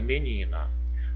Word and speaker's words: menina: Vamos verificar mais um exemplo aqui, a palavrinha menina. Vamos separar a palavrinha menina, ó. Menina. Em menina, vamos verificar qual que é a sílaba mais forte.